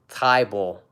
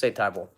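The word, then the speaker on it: Thybulle: a fan of Mattias Tai Bowl sorry about butchered his name tie ball it's a tie ball if you were gonna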